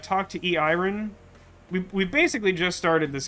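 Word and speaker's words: Eirin: new character this is e iron I call her that because it's spelled e i r i n and that's not how you write Aaron um and uh so she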